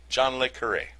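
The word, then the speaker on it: John le Carré: you might consider it close to the English pronunciation of hooray, but with a slight trill on the R sound. So like John Le Carre. John Le Carre.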